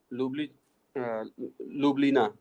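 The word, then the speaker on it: Ljubljana: जब इसका प्रोनाउंसिएशन करते हैं तो इसको जे को आई जैसा ट्रीट करते हैं। तो क्या हो जाएगा? लिबली, लिबलिना।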